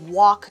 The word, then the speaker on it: walk: then we say I walk to school every day so don't pronounce that L our next sentence is